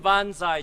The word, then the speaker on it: banzai: That's a Japanese pronunciation.